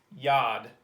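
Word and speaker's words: יד: of just floats up there but this is pronounced yad yad kind of like a why a denoise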